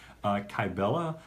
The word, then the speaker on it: Kybella: also offers hi Bella could you explain what kybella is for those of us who don't know